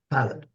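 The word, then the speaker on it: Pilate: think it was Pilatus I don't know how to pronounce that in English pilot no P pil pilot pilot okay thank you that one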